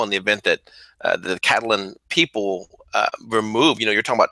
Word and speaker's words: Catalan: And see, you got to say it like a true Spanish person. Catalan. Catalonian. You sound like a gringo. Catalan.